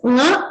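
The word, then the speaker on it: ङ: The last letters of each Varga are nasal. So they're pronounced with a nasal tone.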